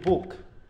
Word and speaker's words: book: হচ্ছে কিন্তু তাই না আবার এই জায়গায় যদি বলি বুক এখানে কি দাঁড়াচ্ছে উন্ড দেখো ডাবল ও কিন্তু ওখানে ডাবল ও আ